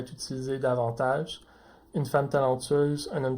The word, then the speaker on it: talentueuse: Au masculin, talentueux, le X est muet, tandis qu'au féminin, talentueuse, le S se prononce comme un Z.